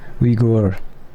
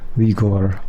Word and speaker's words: Uyghur: Ah, I see. Uyghur. It's gur, not gur. There we go. Gur. That's definitely very different from how English speakers often pronounce it. Okay, yeah. Uyghur.